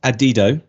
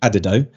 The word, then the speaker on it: Adido: this conversation just before we went live it's pronounced adido uh I sounded like an idiot when we came on I was trying to get it right saying adido which sounds stupider the more I listen to